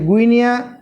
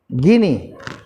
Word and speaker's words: Guinea: 40 নম্বর হচ্ছে গুইনিয়া, GUINEA, গুইনিয়া capital হচ্ছে কোনার্কি, KONARKY, কোনার্কি কি? গিনি, তাহলে গিনি, তাহলে উচ্চারণটা তাহলে গিনি, কিন্তু লিখবো আমরা GUINEA, ঠিক আছে, গিনি।